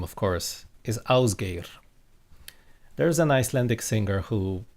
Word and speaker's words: Ásgeir: And me and my Australian and American and British and Dutch friends used to call him Ásgeir. That's not the correct way to pronounce his name, it's Ásgeir.